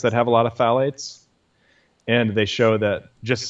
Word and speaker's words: phthalates: polyester Wow polyester brings your blood levels of phthalates up and they've even done studies with with laundry detergents that have a lot of phalates and they show that just sit having clothing